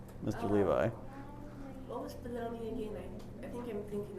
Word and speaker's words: Bologna: in a place called baloney. Yes. Baloney. Like how you spell it, like how you eat it.